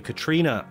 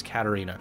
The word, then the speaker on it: Katerina: I mispronounced your name I was calling you Katrina kitty cat but it looks like it is Katerina I have a little